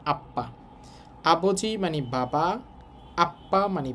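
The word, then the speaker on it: 아빠: এই সাংবিয়ক মাঝে থাকার কারণে ডবল উচ্চারণ হবে আপ্পা।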